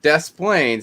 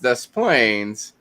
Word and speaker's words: Des Plaines: town called des plaines drove me nuts that death planes is pronounced dust planes when des moines is pronounced des moines yeah